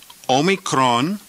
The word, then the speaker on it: Omicron: almost like a KS Omicron is pronounced as the O in the word obey o just like a